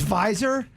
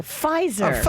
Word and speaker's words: Pfizer: oh yeah that's visor what is it visor you say no pfizer it's okay but the view was silent sound like a v yeah i don't care